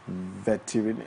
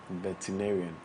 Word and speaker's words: veterinarian: Yes, he's a veterinarian. How do you pronounce that word? Veterinarian. Veterinarian. Okay. It's not veterinary, please.